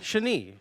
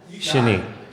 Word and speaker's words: Shani: Shani. Like Marie or Chablis or Capri, Italy. You know, short A, long E, accent on the second syllable. Shani.